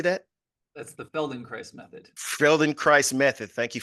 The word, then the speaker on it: Feldenkrais: That's the Feldenkrais method.